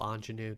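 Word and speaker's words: Ingénue: to clean this deck that is how you spell anenu that's how you pronounce it and I just never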